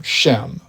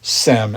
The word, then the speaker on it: Shem: All Hebrews will be descended in particular from Shem, or Sem as it is sometimes pronounced.